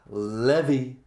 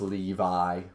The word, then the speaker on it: Levi: me guys um yeah Levy I went to the levy and the levy was dry I know it's Levi whatever it's spelled like the levy um but anyways um